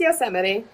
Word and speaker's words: Yosemite: No, it's Yosemite.